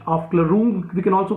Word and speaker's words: Aufklärung: In the same way, this German term Aufklärung, write down, Aufklärung, we pronounce it Aufklärung, we can also pronounce it Aufklärung, like Bildungsroman in the same fashion.